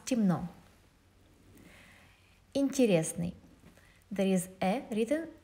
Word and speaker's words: темно: Темно, we write темно, but we pronounce темно.